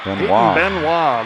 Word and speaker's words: Benoit: in the third payton there's three ways i could say our name this time i'm going to say benoit benoit the real french pronunciation puts it in play